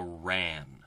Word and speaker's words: RAAN: at our next orbital parameter which is the ran that's how we usually pronounce it and most people refer to it